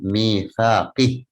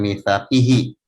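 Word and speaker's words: ميثاقه: Namun jika diwakafkan karena ada tanda shad lam, maka bacanya mitsaqih, jangan mitsaqihi. Saya masih mendengar ada yang baca mitsaqihi, kalau wakaf pun tetap mitsaqihi. Seharusnya antara wakaf dan wasol dibedakan.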